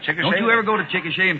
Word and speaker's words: Chickasha: in oklahoma and i'm sure i must have mispronounced it and i know you can help me out what'd you say c-h-i-c-k-a-s-h-a i said chikasha oh mr mcnair that is not right i